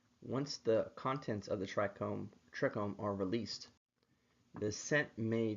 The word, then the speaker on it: trichome: When it comes to defending against bugs, plants use trichomes and terpenes to defend themselves. Although most people would pronounce it trichomes, the correct pronunciation is trichome, the root word meaning hair. So the trichome is an evolved hair follicle.